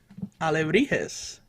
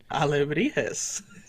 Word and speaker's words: alebrijes: And the correct pronunciation of that, you got to help me out. Alebrijes. Ooh, say it again. Alebrijes.